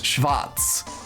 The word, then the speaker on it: Schwarz: in German or the because the W in German makes a v sound as in the last name Schwarz schvatz and so if they're